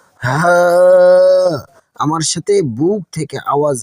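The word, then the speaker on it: ه: এটি মাখরাজ হলো আমাদের হলক বা কণ্ঠনালীর একদম শেষ মাথা থেকে উচ্চারণ করতে হবে, অর্থাৎ বুকের গভীর থেকে এটি খুব স্বাভাবিকভাবে একটা দীর্ঘ শ্বাস ছাড়ার মতো করে উচ্চারণ করতে হবে। গলার কোথাও কোনো চাপ লাগবে না।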